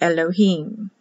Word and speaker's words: Elohim: dot is always i y still pronounced e like elohim so it can be spelled h-i-m or h-i-y-m both are correct pronounce elohim sounds like e green the dot above is